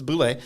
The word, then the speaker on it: Boulay: I thought it was a B-A or the L was silent. I'm trying to figure out the fancy French pronunciation, but it's Boulay.